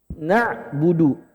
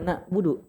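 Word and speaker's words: نعبد: Wala ana harusnya wala ana harusnya na budu bukan na budu tapi itu butuh proses pelan-pelan.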